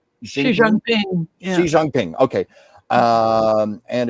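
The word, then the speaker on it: Xi Jinping: with the Chinese president uh with am I pronouncing this right? Xiang Xi Jangping Xi Jangping.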